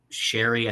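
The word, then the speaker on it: Sheary: Sherry, I think it's Sherry is how you pronounce it.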